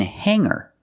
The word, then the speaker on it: hanger: So we see words like singer and hanger. In both of these words, the G is not pronounced with a hard G sound. We don't say singer and we don't say hanger. We say singer and hanger.